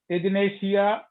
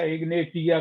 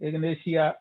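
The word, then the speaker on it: Ignatia: इग्नेशिया है IGNITIA, इग्नेशिया या इग्नेटिया कहिए आप उसको, ठीक है, इग्नेशिया उच्चारण है उसका।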